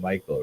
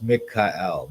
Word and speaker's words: Michael: But it would probably be pronounced Mikael, because the ma means like who or what. It's like a question, right? And then the ka is like as or like, and then el means God.